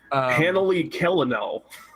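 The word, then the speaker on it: Hanali Celanil: That's a hard C. Hanali Kellenel.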